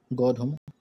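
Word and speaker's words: गोधूम: ठीक है, वीट को हम कहते हैं गोधुम. इसका प्रोनाउंसिएशन है गंधुम, लेकिन हम इसको लिखते हैं गोधुम.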